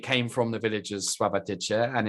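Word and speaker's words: Sławatycze: Sławotyce.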